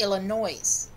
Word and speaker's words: Illinois: to my mom and I said Illinois's and she goes wait what it's just ghost no sweetie Illinois mm-hmm it almost